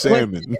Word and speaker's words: salmon: It's salmon. Say it. Say it. Salmon. Yeah. The L is silent.